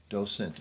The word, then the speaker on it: docent: How do you pronounce it? Yeah, docent.